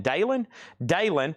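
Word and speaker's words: Dalyn: Dalen has that for $35.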